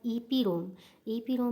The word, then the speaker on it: EPROM: दूसरा क्या है हमारा, ई पी रोम means erasable programmable read only memory. ई पी रोम में हमारा जो होता है वो प्रोनाउंस करते हैं इसको ई प्रोम।